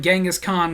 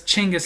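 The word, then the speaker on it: Chinggis: us to finally realize we were calling him gangas Khan when we should have been calling him chingis because chingis is how you actually pronounce his name I made the joke in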